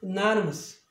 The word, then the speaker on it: anonymous: 그러니까 모음이 있는 거나 마찬가지니까 이 마지막 음절 앞에 모음이 있으니까 액센트는 이제 일로 가는 거예요. 그러면 이쪽이 시와 사운드 되고 여기 Y도 시와 사운드가 돼요. 그러니까 A는 어로 발음할 테고 Y는 시와 발음이니까 으로 한단 말이에요. 그러면 전체적인 발음은 얘는 단모음이고 anonymous 빨리 하면 anonymous 이렇게 되는 거예요.